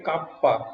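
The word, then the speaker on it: kappa: এইটাকে কাপ্পা, কে, কে এর মতো দেখতে হয়, এটাকে প্রোনাউন্স করে এভাবে কাপ্পা দিয়ে, এটাকে কাপ্পা দিয়ে ডিনোট করা হয়ে থাকে।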